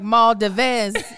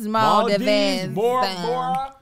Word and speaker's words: Maldives: thought it would be i would have been like maul dives that's what i was it's maldives the spanish coast uh